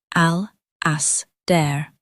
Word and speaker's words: Alasdair: The Gaelic Alasdair has 4 syllables in its fullest pronunciation: al, as, dare.